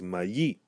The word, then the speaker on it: mayi: So the example here is one of the ways to say corn, which is mayi. Mayi, where we stress the final syllable, mayi.